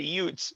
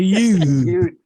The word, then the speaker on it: youth: the Utes. The youth. It's got a TH on the end. I pronounce it youth.